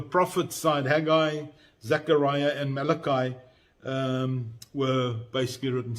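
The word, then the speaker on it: Malachi: side Hagai, Zachariah and Malakai um were basically written. Some people preferred to pronounce Malakai is Malaki so whichever way suits you.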